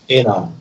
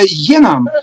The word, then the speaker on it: enam: Vihma enam Но не Е, нету Е. Enam. enam. Энам. Так, Enam. Вихма энам ei saa. Вот это енам, это самая страшная, грубая ошибка вот русского.